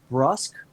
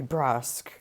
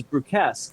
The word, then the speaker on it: brusque: she's brusque very brusque i never knew that that was the correct pronunciation of the word until like maybe two years ago oh well i mean she's just very disagreeable it's b-r-u-s-q-u-e thank you yes no i thought it was bruce or brus i never